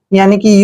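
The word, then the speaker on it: unique: important word for यू यू एन आई क्या यू ई देखि का उच्चारण हम यहां पर यू करते हैं और एन का उच्चारण न करते हैं आई को ई की मात्रा पढ़ते हैं और जहां पर क्या य ई इकट्ठा आता है तो इसका उच्चारण हम क करते हैं क यानी कि योनिक अब यक क्या होता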